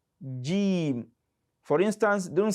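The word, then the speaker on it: ج: letter g g g some people pronounce they pronounce y that is that sounds like y not so it is something in between and by saying not it is it is g g gim for instance don't say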